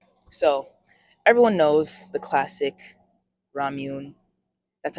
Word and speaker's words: Ramune: So, everyone knows the classic Ramune. That's how you pronounce it.